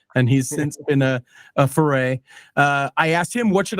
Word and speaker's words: Ferre: Back then, he was Rob Ferry. That's how he pronounced it back then. And he's since been a Ferre.